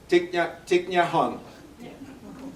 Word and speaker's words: Thich Nhat Hanh: Can you pronounce his name? Sure, it's Thich Nhat Hanh.